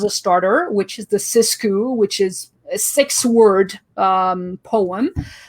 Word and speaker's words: Sixku: So it's the Sixku, and it's spelled Sixku, but because I'm French and it's poetic license, I decided to say it's a Sixku, because 6 in French is pronounced as six.